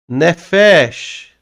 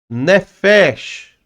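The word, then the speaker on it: נפש: Nós temos então a palavra nefesh. Ó. Nefesh. Então como é que eu leio? Nefesh. Ó, aquele chi de cobra, né?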